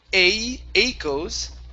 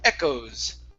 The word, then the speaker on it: echoes: Instead of echoes, okay, it's a short e. Echoes.